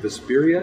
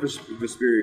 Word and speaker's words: Vesperia: Is it Vesperia? Vesperia, yeah.